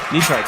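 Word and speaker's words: Netarts: State car hey can't knee Tarts is that how you pronounce that knee Tarts that's right knee Tarts Bay be careful there's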